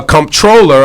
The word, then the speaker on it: Comptroller: Ladies and gentlemen, Eliot Spitzer's here running for the Comptroller of New York City. How you pronounced it right.